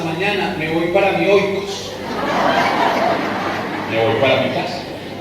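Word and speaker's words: οἶκος: Casa en griego se dice oikos. Oikos. Entonces usted va a decir, cuando llega al grupo de oración, le dice a su párroco: Padre, hasta mañana, me voy para mi oikos.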